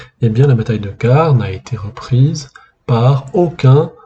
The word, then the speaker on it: Carrhes: la terrible bataille de car ou carae en latin et je ne vais pas prononcer le S final de carè puisque ça serait mal